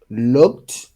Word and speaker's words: looked: all end with ed, ed, ed, but you do not pronounce the e. You can pronounce the d, so you can say look, Look.